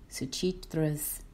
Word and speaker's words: Suchitra: solo piano song is Suchitra's Theme. Hope I'm saying her name right. Suchitra. There's an H in that name that's supposed to be pronounced even though you see a T and an R together.